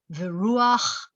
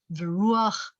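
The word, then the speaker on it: וְרוּחַ: And by the way, so that's a furtive patach, which means if you see a chet at the end of the word, you have to pronounce the ah first, the patach first. Viruach Elohim.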